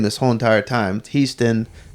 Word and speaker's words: Hiestand: Alpha Grand Alpha Grand the great Bambi Brady Houston I say it with the E noun today because that's how he says I've also mispronounced his name this whole entire time teased in right yeah Marie's trying to change my name